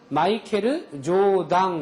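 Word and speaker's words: マイケル・ジョーダン: 일본 발음으로 마이클 조던을 표기를 하라고 하면 마이켈 조당 이렇게 해요.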